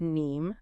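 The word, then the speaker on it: KNIME: Kenname pronounced NEe is a big one.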